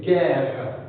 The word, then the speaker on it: guerre: légume, comme figure, et quelquefois le U ne se prononce pas dans le cas de guitare et guerre.